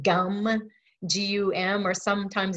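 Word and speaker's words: gam: So if you pray to Ganesha, you say his seed sound gum, G-U-M, or sometimes it's spelled G-A-M.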